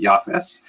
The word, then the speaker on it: Japheth: In the Ashkenaz pronunciation, that would be Yafes.